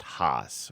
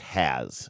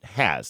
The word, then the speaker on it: Haas: people think it's pronounced Haas, right? H-A-A-S. But it's actually pronounced has in her family for reasons I don't know or understand or care to get to the bottom of. But it's has.